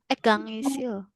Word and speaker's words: 강의실입니다: 강의실입니다. 강의실. 강의실입니다. 강의실, tapi kalau nyambung 입니다, R-nya ini juga nyambung. 강의실입니다. jadi dibacanya R ya.